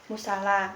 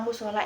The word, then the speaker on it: musala: Tapi untuk kata musola itu salah, yang benar itu musala. Nah, secara linguistik, kesalahan ejaan kata musola ini terjadi karena ketidaktepatan proses adaptasi fonologis.